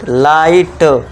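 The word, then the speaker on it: light: अब देखिए जी एच मैंने बोला था आपको साइलेंट रखना है, तो बस जी एच को साइलेंट कर दो, भूल जाओ, बस टी के लिए टा कर दो, तो ये क्या हो गया, बन गया कंप्लीट लाइट।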